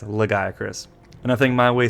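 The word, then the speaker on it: Lagiacrus: number seven legaya Chris yes I know the common pronunciation is lagiacorous but the first time I ever saw this leviathan's name I read it as legi Chris and I think my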